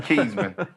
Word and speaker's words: Kezmond: Yeah, he said Kezmond. That's how you say my name, Kezmond.